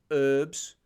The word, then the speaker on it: herbs: love you dearly but why don't you pronounce the h in herbs why' you call it herbs weird um it's all